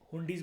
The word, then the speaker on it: हुंडी: Pronunciation है, कुछ भी बोल लो, कई लोग ज़्यादा पॉश बनने के लिए हुंडाई बोलते हैं, ठीक है, हुंडीज बोला जाता है वैसे इसको, मिडिवल इंडिया की टर्म है क्योंकि ये हुंडी।